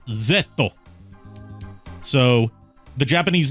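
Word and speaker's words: ゼット: on foreign words uh it's pronounced zetto so the Japanese name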